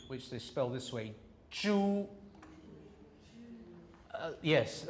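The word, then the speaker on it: 猪: this way Chu yes a lot of people say it like that as though it's jus he's a Jew all right now what what they're doing is it's a pure vowel so the tongue should be like this at the back a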